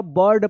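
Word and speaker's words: bird: है तो क्या पढ़ेंगे आई का अ उच्चारण होगा बर्ड पढ़ेंगे बर्ड नेम्ड एन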